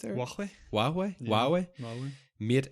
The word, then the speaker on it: Huawei: Is that how you pronounce it? Huawei. Huawei.